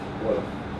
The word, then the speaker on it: Wolof: Wolof. Wolof. Like W-O-L-O-F. Some people spell in Gambia they spell it like that.